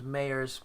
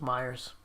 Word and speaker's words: Myers: I always say your name wrong. I don't know why I want to call you James Mayers, because I actually know another James Mayers. It's James Myers.